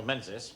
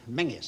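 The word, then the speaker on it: Menzies: Now, quite out of the blue, I've had an invitation from Major General Menses. Sanger Menis. What did you say? Fraser. We pronounce it menus, sir.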